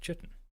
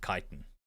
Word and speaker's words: chitin: insects i said yeah but it's not pronounced chitten so she was also mispronouncing it her entire life i don't know whether it's like a cultural thing for south africans to pronounce it chitten but i had never pronounced it chitin yeah i don't think